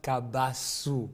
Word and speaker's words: Kabasu: You pronounce Kabasu well.